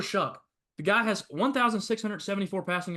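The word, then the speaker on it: Shough: for Louisville Tyler Shu been saying his name wrong the entire time figured that out on the broadcast the other night it's Tyler Shu the guy has 1,674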